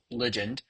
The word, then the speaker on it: ligand: all my research, I believe the correct correct pronunciation is ligand.